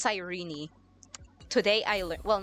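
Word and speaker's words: Cyrene: Also, I thought you pronounce her name Sirene. It's Sirene. Today I learned Well, not today, but like recently I learned it's not Sirene, it's Sirene.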